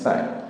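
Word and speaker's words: sign: এখানে এখানে এস আই জি এন সাইন, এই জি থাকার কারণে এখানে কিন্তু এই যে এন থাকার কারণে কিন্তু জি উচ্চারণ হয়নি।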